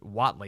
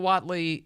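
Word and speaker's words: Whatley: I think is the last name is pronounced wattley Michael wattley uh chairman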